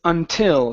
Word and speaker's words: until: Here, this is until. So the stress is at the very end.